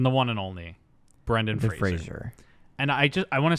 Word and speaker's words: Fraser: It is pronounced Brendan Fraser. Fraser. Not Fraser. It's not Frasier.